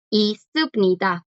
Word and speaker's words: 있습니다: Aquí hay un montón de S, no cambia la pronunciación, simplemente suena todo como S. Isubnida, isubnida.